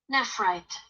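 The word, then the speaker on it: nephrite: Nefrighty. I don't know how to pronounce that.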